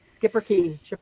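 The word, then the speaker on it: Schipperke: i don't remember correctly it's spelled s c h i r it looks like superkey but they say it's skipper yeah skipper key yeah okay so uh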